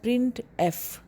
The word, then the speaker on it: printf: The function printf is pronounced as printf। ये लिखा हुआ है printf, इस तरह से प्रोनाउंस करते हैं।